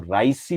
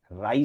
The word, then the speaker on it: राई: कई बार इसमें उच्चारण की थोड़ी शुद्धि नहीं रहती है और ज्यादातर हम इसको राइसी प्रतिक्रमण कहते हैं। राइसी शब्द नहीं है, राई शब्द है, राई या रात्रिक।